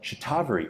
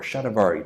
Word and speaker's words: shatavari: So you have for example shatavari or shatavari, depending on how you like to pronounce it.